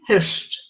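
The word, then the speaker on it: Hiort: Hurst is another place, which is St Kilda, the Gaelic for St Kilda. H-I-O-R-T, Hurst.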